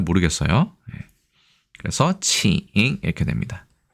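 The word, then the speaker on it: 请: 그래서 칭 이렇게 됩니다. 중국어의 Q 발음은 크 발음이 아니라 저 CH 혹은 E 발음이 됩니다.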